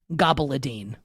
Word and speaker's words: caponata: So caponata is spelled Caponata and is somehow pronounced gabaladine.